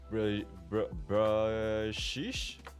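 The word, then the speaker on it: Bruxish: x i s h is pronounced like bruh uh wait let me just scroll up a bit bruh BR brish or is it just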